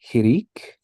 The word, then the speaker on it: hirik: When we have a single dot underneath, we've got hirik and hirik malay, or hirik yod. And that is pronounced E as in C.